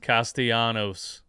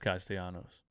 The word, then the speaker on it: Castellanos: DJ, I know you hate this, but it's pronounced Castellanos. Thanks, bro. Thank you so much. Well, actually, it's pronounced Castellanos.